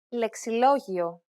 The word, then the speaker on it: Λεξιλόγιο: There are also some exceptions where a word appears to have a diphthong, but the pronunciation is that of two vowels and separate syllables.